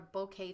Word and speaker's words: bokeh: looked it up and it's actually pronounced like okay okay I think I